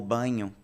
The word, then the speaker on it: Bagno: Então, a gente percebe essa variação linguística tão bem embasada pelo professor Marcos Bagno, ou Banho, quem preferir pronunciar assim, foi professor da Universidade